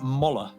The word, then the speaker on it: Moller: by the way uh it is moller not molar so i apologize uh